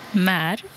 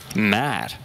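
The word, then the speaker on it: märr: Mär. Mär. Met, mär. C'est la même voyelle mais un son différent.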